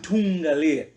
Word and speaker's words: Ntungalia: Ntungalia. Yes. Yeah. Can you tell the people what's the origin of the name? The origin of the name Ntungalia, it's a derivation from my normal name, which is Ntunga.